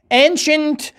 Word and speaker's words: ancient: Ancient, C-I-E-N-T, تلفظ شنت.